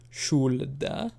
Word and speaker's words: should: never really changed like nobody says should or would the L is silent probably comes from a